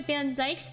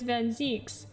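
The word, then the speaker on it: van Zieks: Wait, originally I said it was Van Zykes, but then someone said that it was Zeeks instead. Because originally I would have thought to pronounce it Van Zykes, but somebody who was German told me it was Van Zeeks.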